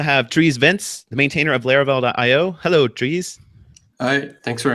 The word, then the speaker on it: Laravel: no he's always said laravel but people here that and they keep saying LEL they know the official pronunciation is larel and they will continue saying LEL yeah it rhymes with Fair pair like pair programming Lara I